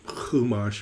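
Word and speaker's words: Chumash: to this word five sometimes it's spelled with a ch because it's a hat um kumash if you ever see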